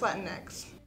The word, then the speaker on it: Latinx: As a group, we all need to decide what term we use, Latinos, Latinas, Latinx. It's pronounced Latinx. Why? Latinx is a term that's used to be inclusive of everybody.